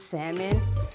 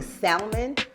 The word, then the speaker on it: salmon: salmon for a minute anybody that pronounces salmon and you actually say the l i hate you anybody when i hear you say salmon just know i automatically